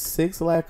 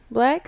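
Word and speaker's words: 6lack: Have we determined if it's 6 lack or is it black? It's black. It's black? It's black. Okay.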